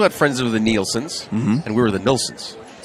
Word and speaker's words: Nielsen: But yeah, Nelson, which is more English. Nielsen, which is down there for Eagle Point, that's more Danish. And then mine, which is Swedish.